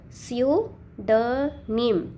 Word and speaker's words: pseudonym: The p is silent.